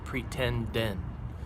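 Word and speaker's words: pretenden: t e n d e n and it's pronounced pretend n pretending if you say it fast and so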